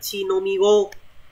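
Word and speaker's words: 乳飲み子: Từ này mình đọc là chinomigo.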